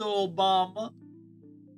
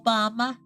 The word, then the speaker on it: Obama: Obama, how are you doing today, Mr. Obama? No, that's not the right. That's not how it's said. Mr. Obama, that's more like it.